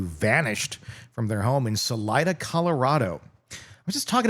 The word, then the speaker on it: Salida: Salida. S A L I D A. Really? See, I would have totally pronounced it the other way.